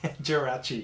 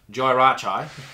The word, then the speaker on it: Jirachi: is being wrung now i'm not even gonna try and pronounce that because i know you know what it is jirachi jirachi ladies and gentlemen i would have said joey rachael uh but there he